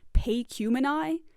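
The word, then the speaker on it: Pacumeni: This one, for example, I usually just pronounce Pecumeni because it's a one-off name, whatever. But apparently it's supposed to be pronounced Pecumeni, which some people say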